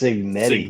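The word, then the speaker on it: Cignetti: It's signetti. Signetti. That's what I said. You did not pronounce a G.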